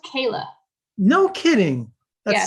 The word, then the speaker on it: Kier-La: how do you say is it la it's pronounced kayla no kidding yeah it's actually pronounced a lot